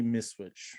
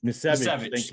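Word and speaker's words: Misiewicz: Anthony Miswich, or however you pronounce his name. Misevich, Kevin.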